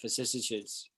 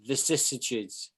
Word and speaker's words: vicissitudes: So that's how you would use that, vicissitudes. It's hard to pronounce that word. It is vicissitudes.